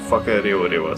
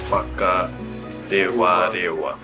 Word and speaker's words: Whakarewarewa: It's uh Whakarewarewa. So, wh is always like a f sound. And then, our r's are Whaka- -rewarewa.